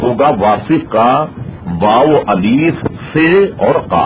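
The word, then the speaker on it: واثق: دیکھیے اس کا تلفظ ہوگا واصف کا واو الف سے اور قاف، یعنی تین نقطے والوں سے اور قاف، یہ واصف کا تلفظ ہوگا.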